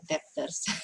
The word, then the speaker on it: debtor: Creditors have better memories than debtors. Yes. So we don't pronounce b, we don't pronounce b, we say debtor.